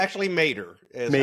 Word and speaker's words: Maderer: Is that correctly pronounced, Scott? It's actually Maderer is Maderer.